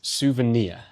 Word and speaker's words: souvenir: And the final word is souvenir. The stress is on the final syllable. Souvenir. Souvenir. It's the same pattern as the word engineer.